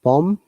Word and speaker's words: bomb: see that welcome so if there is b after m b is always silent on second num com